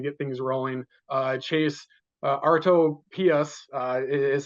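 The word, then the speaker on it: Artopoeus: really starting to get things rolling uh Chase arto pus uh is how you pronounce his name you have to say it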